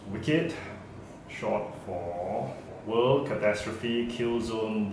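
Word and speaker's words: WCKD: see I find myself the property of wcve pronounced wicked short for world catastrophe Killzone Department because any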